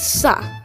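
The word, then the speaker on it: स: line next one is sa which makes the s sound as in super and it's exactly like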